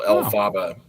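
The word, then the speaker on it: Elphaba: So, it's like a kind of a phonetic pronunciation of LFrank Bomb. So, El Faba.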